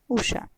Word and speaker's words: उषा: अगर हम उच्चारण देखें तो अक्सर हम इसका उच्चारण ऊषा ही करते हैं, लेकिन सही शब्द है उषा।